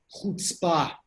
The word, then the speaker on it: chutzpah: It's pronounced chutzpah.